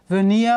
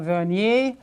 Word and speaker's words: vernier: This is called a vernier scale, vernier or vernier, different pronunciations.